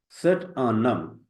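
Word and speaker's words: c'est un homme: Usually, HOMME. It looks like but in this condition, due to the H, we combine the pronunciation of both word and whenever we are speaking.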